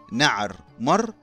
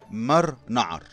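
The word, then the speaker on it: نعرمر: الى حد ما لكن اسمه الصحيح الفرعوني بيتكون من رمزين نعر وده الرمز واسم سمك القرموط نعر و مر مر اللي هو رمز واسم الشاكوش واللي ممكن يتنطق نعر مر او مر نعر واللي معناه القرموط الغاضب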